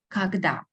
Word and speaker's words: когда: Много, мало, когда. Again, pay attention when we pronounce a instead of o.